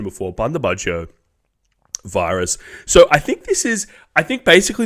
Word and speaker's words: Bundibugyo: I looked up the pronunciation before. Bundibugyo virus.